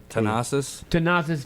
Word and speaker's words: Thanasis: Pronounce his name again. Thanasis.